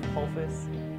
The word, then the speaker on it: Pusfus: My name is Pusfus. The last name is easier than it looks. The middle S is silent.